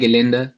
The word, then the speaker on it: Gelände: Or raw, yeah, it's just like raw, and but RB in German, RB Gelände, yeah.